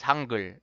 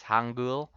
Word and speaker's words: 한글: Well, the right way to say it is Hangul, but maybe some people when they read this firsthand is Hangul.